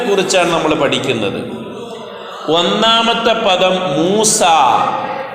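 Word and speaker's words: موسى: 1-ാമത്തെ പദം മൂസ. മൂസ എന്ന് പറയുമ്പോൾ ഉച്ചാരണത്തിൽ അലിഫാണ് വരുന്നത്. എഴുത്തിൽ അവിടെ ചുവന്ന അക്ഷരത്തിൽ യാ കാണിച്ചിട്ടുണ്ട്.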